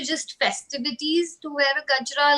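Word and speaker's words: गजरा: And these are jasmine flowers that we call in India, or in Hindi, we call it gajra. So I don't know if you'll be able to pronounce it.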